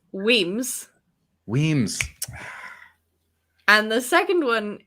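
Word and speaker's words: Wemyss: were english um yeah i'm gonna go uh wimes so the first one is pronounced john the first one is pronounced weems weems and the second one is pronounced mulgai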